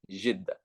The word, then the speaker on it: Jeddah: That's how they say it. It's not Jeddah, it's Jeddah.